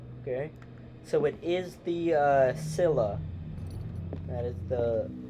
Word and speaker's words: Scylla: So it is the Scylla. That is the correct pronunciation.